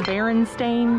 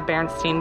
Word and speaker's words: Berenstain: hey look it's the berenstain bears i'm not saying that wrong it's actually how you say it but my entire life it was the bernstein bears blowing my mind